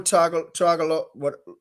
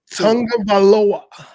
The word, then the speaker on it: Tagovailoa: 82, Tua Tagovailoa. Tagovailoa.